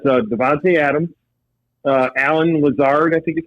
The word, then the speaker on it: Lazard: Yep, it's Davonte Adams, Alan Lazard, I think is how you pronounce his name, and Marquez, I think it's Valdez Scantling is how you pronounce his name.